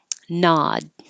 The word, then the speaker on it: nod: Nod. This is nod. You won't hear the D if it's at the end of the sentence or there's a consonant after it.